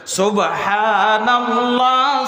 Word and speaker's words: সুবহানাল্লাহ: তো সুবহানাল্লাহ সুবহানাল্লাহ সুবহানাল্লাহ এখানে একটা হা বলেন হা টা কেউ ভুইলা যাইয়েন না তাড়াহুড়া করলে লাইগা অনেকে হায় শেষ করে দেয় হা উচ্চারণই করে না তাড়াহুড়া নাই জিকিরের মধ্যে